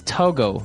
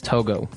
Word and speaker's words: Togo: country toiz togal okay so it's Togo that's the way you pronounce it because if you look at it I would say to go m right but it's not too it's Togo or as my French